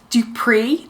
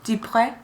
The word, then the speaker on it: Dupree: A man named Mr. Dupree, D-U-P-R-E, Dupree. Dupree? Dupree. D-U-P-R-E? Yeah. Dupree. Dupree. Now we've got correct pronunciation.